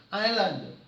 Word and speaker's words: islands: 이런 말이죠 오키나와 오키나와 아일랜드 s가 발음이 안 됩니다 아일랜드 Islands 그 길을 이끌고